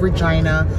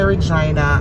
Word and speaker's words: Regina: I love my Regina. I love Regina because for me it's home. And anyway, yeah, so it rhymes with fun.